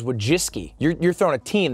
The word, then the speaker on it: Wojcicki: wachitzki we have and I had to literally write down phonetically wojitski before our interview that's how you say it isn't it I thought it was wojiski you're you're throwing a